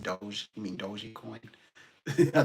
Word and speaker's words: Doge: They mentioned Doggy Coin. I know it's pronounced Doge.